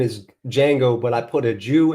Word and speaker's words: Django: But the Django, but it's pronounced Django.